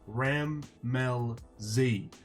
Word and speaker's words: Rammellzee: do I say it but it's it's breaking up into three parts RAM Mel Z ah I'm gonna struggle